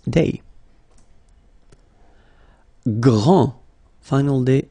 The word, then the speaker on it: grand: Grand, final day not pronounced, okay, gr, gr, gr, gr, and then the nasal en, grand, okay, and it means big or tall.